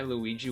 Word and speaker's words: Luigi: Try Luigi with a hard G.